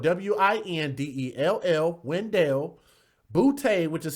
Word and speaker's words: Windell: It's kind of weird, but her name is spelled W-I-N-D-E-L-L, Windell Boutte, which is spelled B-O-U-T-T-E.